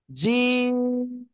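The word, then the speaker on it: جيم: 64 10 ওকে জিম জিম শক্ত করে উচ্চারণ হবে তিন আলিফ টান হবে কয় আলিফ তিন আলিফ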